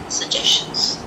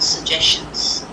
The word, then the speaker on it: suggestions: Again here, 2 G's, I'm only pronouncing one, suggestions. The shan always becomes a schwa sound, if you notice here. Suggestions. Can you see the schwa sound here? Suggestions. Not suggestions, suggestions. 1 G is pronounced.